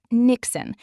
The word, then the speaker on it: niksen: Niksen, pronounced Niksen.